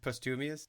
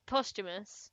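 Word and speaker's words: posthumous: You've never heard the post the word postumius. Post postumous. Postumous. Sorry. Okay. Yeah, you're right. I was saying that weird. That's me. That's on me. You're right. That one was on me.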